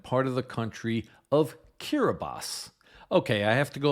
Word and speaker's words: Kiribati: The name of that country is spelled k i r i b a t i. For a long time, I thought it was pronounced Kiribati because I'd only seen it written on maps, but it's actually pronounced Kiribati.